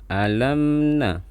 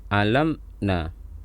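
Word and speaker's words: أَلَمْ نَ: mim dan Mbak maka dibaca bacanya alamna alamna jadi suaranya ditahan sedikit jadi jangan alam nah atau ditahan secara berlebihan alamna alamna kemudian di sini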